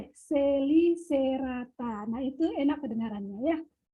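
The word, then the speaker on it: Chelicerata: Jadi kalau tulisannya cacicu ceco, maka bacanya kasiku seko, ya. Nah, tulisannya ini Celicerata, kita baca kasiku Selicerata.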